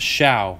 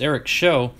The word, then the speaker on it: Shaw: Darren Jackson, another Eric Shaw, and another thing, guys, it's pronounced Shaw. I know you look at it and you go, oh, it's Eric Show, but it was pronounced Shaw.